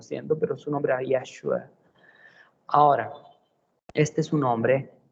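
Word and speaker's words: ישוע: Su nombre es Yeshua. Yeshua o Yesue. Yesu. De ahí es que se ha convertido en Yesu, Jesús. Jesús terminó siendo, pero su nombre era Yeshua.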